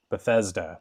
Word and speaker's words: Bethesda: circle uh I'm always I'm always going to say this developer's name wrong but it's Beth Beth beeta Or Bethesda Bethesda uh is making this